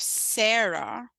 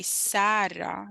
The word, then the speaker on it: Sarra: So if you get the A right, instead of Sarah, you say Sarra. That's like 85% of my name correct. And then you can ignore the R.